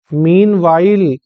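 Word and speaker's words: meanwhile: एच आई एल ई मीन वाइल मीन वाइल मीन वाइल मीनवाइल मीस उसी समय इसको भी ध्यान रखना इसमें जो एच का प्रोनंसिएशन होता है इसका प्रोनंसिएशन नहीं करते हैं इसका उच्चारण नहीं करते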